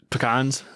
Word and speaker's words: pecans: know i think i i usually say pecans i say pecans i don't know if that's correct how do you say it pecans but if you're in the midwest i think it's pecans you gotta get a little more nasally and i've heard